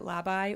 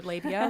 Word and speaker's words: Labeye: It's shop Labeye. A lot of people pronounce it labai or labia, like whichever works for you.